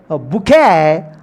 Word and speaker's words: bouquet: It pronounced bouquet or bouquet. Both are correct. Bouquet, that means O is silent. When you pronounce bouquet, U is silent. Both pronunciation are correct. T is mainly silent.